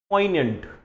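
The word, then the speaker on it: poignant: के प्रोनाउंसिएशन पे ध्यान देना, द वर्ड इज पोइनेंट, ठीक है। अगर मैं आपको यहां पे लिख के दूं प्रोनाउंसिएशन, तो it would be something like this, पोइनेंट, ये प्रोनाउंसिएशन हो गया इसका, ठीक है। अब इसका जो जी है ना वो साइलेंट है, तो दिस इज पोइनेंट।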